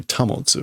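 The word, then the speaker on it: 保つ: Motte there is, that's not the normal pronunciation. That's normally tamotsu, right? Yeah, so this is like normally to preserve, maintain, or hold. Normally tamotsu.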